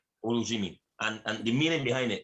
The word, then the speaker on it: Olujimi: Is Olujimi? How do you pronounce it? Yes, that's correct. Olujimi. Olujimi.